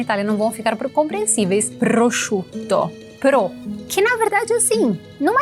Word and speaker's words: prosciutto: Prosciutto. Que na verdade assim, não é tão complicado. Chu. Pense que é chuchu.